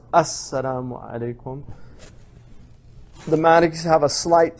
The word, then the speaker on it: Assalamu alaikum: So it's pronounced Assalamu alaikum.